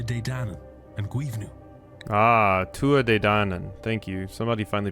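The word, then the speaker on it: Tuatha Dé Danann: Ah, Tua De Danann. Thank you. Somebody finally pronounced that for me.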